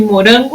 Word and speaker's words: morango: Morango. O ran.